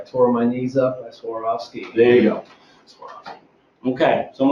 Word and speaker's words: Swarovski: we use here is if if you skied for years and you get older you don't want us anymore and you swore off skiing that's one way to really kind of pronunciate it out helps people understand it